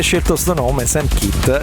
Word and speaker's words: Kitt: Lui si chiama Sam Kitt, ma no Kitt come c'ha un nome, no? Kitt si scrive K-I-T-H, questo si chiama proprio Kitt, K-I-T-T, come la macchina di Supercar, cioè di Knight Rider, la serie degli anni